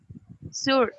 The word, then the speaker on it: sure: So, Sure, sure. sure, ¿Cómo? sure, como si hubiera una H después de la S. Sure.